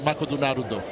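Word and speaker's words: マクドナルド: get here to eat makoto naruto. You What's know that? Makoto naruto is? I do not. McDonald's. That's how you say it in Japanese.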